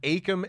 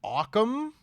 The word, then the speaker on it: Akam: I always thought their names were Akam and Razor. Yeah. He said both of those names like weird. Akam and Razor? Yeah, it was bizarre. He called them like Occam. Obviously, he's phonetically.